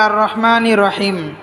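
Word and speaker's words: الرَّحْمٰنِ الرَّحِيمِ: আলামিন আলহামদুলিল্লাহি রাব্বিল আলামিন আর রহমানির রাহিম আর রহমানির আর রহমানির অনেকে বলে আর রহমা আর রহমা হবে না আর রহমানির আর রহমানির অনেকে বলে আর রহমানির রহিম আর রহমানির রহিম হবে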